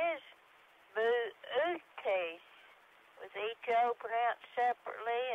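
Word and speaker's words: Boötes: remains ox driver plowing or herdsmen and correct pronunciation is booty was each open out separately and acts in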